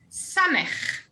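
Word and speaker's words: סמך: Samech. S, as in sun.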